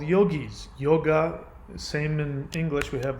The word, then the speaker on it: yoga: to be unified so yoga which is if you hear um lots of indian guys pronounce it they won't pronounce it yoga they will pronounce it yog do you pronounce do